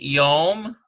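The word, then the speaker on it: יום: Here we have number 2, we have a yod and a holem, yo, and ends with a mem sufi, yom.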